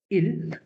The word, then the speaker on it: il: Je, tu, il, elle. Okay. Then we have on, nous, vous, il, and elle. Je. The Hindi pronunciation, it would be je, not je.